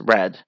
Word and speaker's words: read: read well it's pronounced red it's pronounced as red you just say red like the color red so i read this